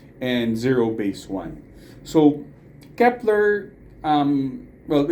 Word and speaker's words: Kep1er: So, but it's pronounced as Kepler.